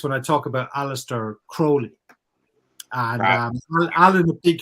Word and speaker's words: Crowley: aleister crowley famously proclaimed it's it's crowley as in holy not crowley as in feli you know correcting people